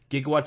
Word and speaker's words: gigawatt: to have 1.21 gigawatts which they always pronounce gigawatts but there's no such thing as a gigawatt it's a gigawatt you have to channel